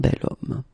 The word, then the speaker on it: bel homme: So remember, I say the sound of a vowel because, of course, if you look carefully, you've got H here, okay? And it's not a vowel at all. But then in French, we don't pronounce it.